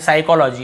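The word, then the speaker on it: psychology: तो देखिए एस से पहले पी। ये तो आपको पता ही होगा। P silent. स्टार्टिंग में पी लिखा हुआ है लेकिन हम पी को पढ़ते ही नहीं है। साइकोलॉजी इसे हम क्या पढ़ते हैं?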